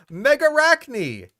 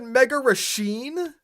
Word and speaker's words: Megarachne: Back in 1980, you had the correct pronunciation on screen. Megarachne. And then you said Megarachne?